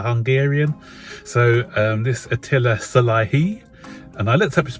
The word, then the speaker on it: Szalai: attila the hungarian so um this attila salahi and i looked up his pronunciation so i think i've got it right